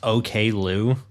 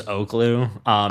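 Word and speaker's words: Oklou: It's OK Lou. I thought it was Oaklou.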